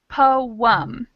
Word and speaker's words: poem: And then in the word poem, we have the same two vowels, but we do pronounce both. So that's two syllables, poem.